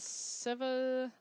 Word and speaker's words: Sevastopol: From Deerfield and Sevastopol.